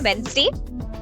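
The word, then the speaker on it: Wednesday: हूं tomorrow is वेनसडे वेनसडे डी को pronounce नहीं करना है आपको डी नहीं बोलना है आपको डायरेक्टली बोलना है वेनसडे आई एम on leave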